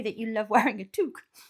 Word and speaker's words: toque: A toque. That's not how you say it. It's pronounced toque.